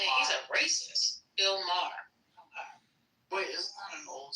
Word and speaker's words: Bill Maher: I see Wayne Brady went after Bill Moyer. How do you say his name? Moyer? Saying that he's a racist. Bill Maher.